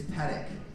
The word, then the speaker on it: Pedick: going through the pages, and he's like, Pedick? And I go, it's Pedick. He goes, yeah, but it's spelled P-E-Dick.